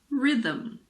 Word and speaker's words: rhythm: girin ghetto Ghost similarly if a word starts with RH the H is silent like in rhinoceros or rhythm I always forget how